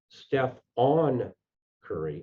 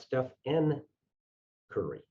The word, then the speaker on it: Stephen: developed was that they misspelled his name and mispronounced it steph on curry not steph n curry like steve urkel's alter ego in family matters